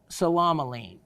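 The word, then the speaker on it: psilomelane: pronounce and understand word it's the salamaline the salamaline that's the one begins with the ps salamaline and it was uh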